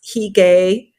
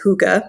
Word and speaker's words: hygge: some people think it's heay or Hae it's h y g g but the traditional the proper way to say it is Huga that's how it's pronounced in Danish uh I grew up